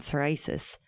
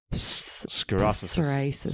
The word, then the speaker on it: psoriasis: And some people say psoriasis. Psoriasis. Is it with a P? Sorry, it's with a P, but the P is silent.